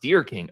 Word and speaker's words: Derking: it's a question um derking says my last name is pronounced dear King okay thank you so